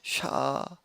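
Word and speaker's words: שָׁוְא: 요 단어는 영어로 하면 sh s가 아닌 쉬에 이제 해당되는 게 샤우라고 이제 이렇게 이름을 발음을 하는데요.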